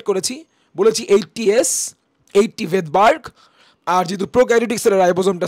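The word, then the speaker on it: Svedberg: এটা হচ্ছে ভেদবার্গ ইউনিক যদিও আমি উচ্চারণ করতেছি ভেদবার্গ বাট এর বানানে কিন্তু প্রথমে এস অ্যালফাবেটটা আসে সো একজন সাইন্টিস্টের নাম ছিল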